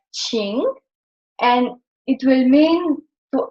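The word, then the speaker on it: 请: So with this radical, the Qing we will pronounce it in the third tone, like Qing, and it will mean to ask or to invite, because here is the radical for tongue.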